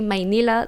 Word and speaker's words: Manila: Manila is actually pronounced. There's a Y in there. And I hear a lot of Americans and English speakers correct me when I say Manila.